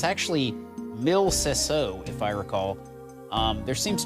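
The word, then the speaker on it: Mille Seseau: But I believe the correct pronunciation is Mil Sesso.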